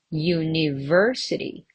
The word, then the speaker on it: university: University on the third syllable.